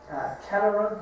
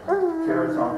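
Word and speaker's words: Caratunk: Cataract, is that how you pronounce it? Caraton, actually.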